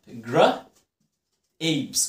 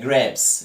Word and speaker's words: grapes: grapes يعني عنب، grapes، وناس كتير بتنطقها غلط وعليها grapes، لا grapes. ليه يا مستر؟ انا عندي حرف الاي وحرف ساكن وحرف اي، في الحالة دي هنطق الاي بايه؟ باسمه.